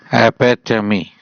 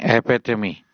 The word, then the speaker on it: epitome: अब हमारा जो नेक्स्ट वर्ड है बच्चों वो है epitome, एपेटमी। ठीक है, दोबारा सुने, epitome, एपेटमी। और इसकी स्पेलिंग देखिए EPITOME, एपेटमी।